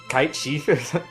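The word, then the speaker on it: Cait Sith: Well, because was so in 7, because we had Cloud, Tifa, Barrett, Red 13, however the hell you pronounce Kate Sith. Yeah. It's like Kite Chief, Heights.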